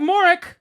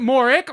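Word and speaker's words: Mauric: it'll get very far or is it moric or Ambassador moric is it moric moric each three different ways pronounced very differently Moro moric and moric it's a big ship yeah I thought it was moric that's how moric sounds reasonable yeah it's spelled m a u r i c does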